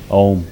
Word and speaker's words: Om: But for instance, we will practice this mantra chanting with using the sound of Om, which is 3 syllables, A, U and Ma.